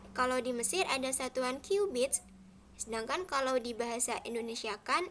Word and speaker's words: cubits: Orang-orang Mesir hanya menggunakan satuan cubits. Tulisannya C-U-B-I-T-S, tapi jangan dibaca cubit ya, dibacanya cubits.